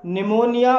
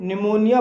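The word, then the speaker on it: pneumonia: जी हाँ दोस्तों, जब किसी शब्द के शुरू में पी एन या पी एस होगा वहाँ पर पी साइलेंट रहता है। जैसे कि निमोनिया, निमोनिया पी एन से शुरू हुआ है और यहाँ पर पी साइलेंट है, इसलिए इसे निमोनिया बोला जाएगा और निमोनिया मीन्स होता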